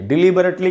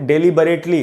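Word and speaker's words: deliberately: एक एडवर्ब है और इसको कई बार लोग डेलीबरेटली ऐसे करके पढ़ लेते हैं, वो गलत है प्रोनाउंसिएशन। इसका करेक्ट प्रोनाउंसिएशन है डिलीबरेटली।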